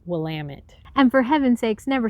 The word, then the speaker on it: Willamette: is actually the dalles or willamette which is pronounced willamette and for heaven's sakes never say oregon we're